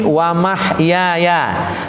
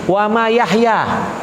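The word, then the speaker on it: وَمَحْيَايَ: Banyak yang salah baca. Banyak yang bacanya mana? Wa ma yahya. Wa ma yahya, salah tuh. Yang benar wa mah. Ha dulu, wa mah ya, artinya hidupku.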